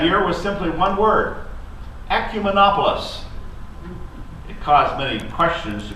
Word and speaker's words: ecumenopolis: The theme for that year was simply one word: ecumenopolis. It caused many questions to be asked as delegates sported their ecumenopolis pins as they walked through the lobbies and down the street.